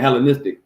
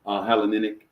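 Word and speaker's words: Hellenistic: stood for hell but grammatically grammatically helenistic yeah helenistic helenic helenistic church right so thank you baby for that pronunciation so the helenistic church is for their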